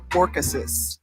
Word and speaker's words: Orchesis: Can you pronounce that word, Tiffany, on the bubble, what I got there? Orchesis.